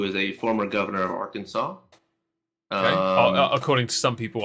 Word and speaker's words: Arkansas: Yes, and also I don't blame them because we have a Kansas, and then we have AR Kansas. Yeah. Why the fuck is it Arkansas?